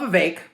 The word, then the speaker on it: Vivek: which, listen, I love my man Vivek Rhymes with Cake.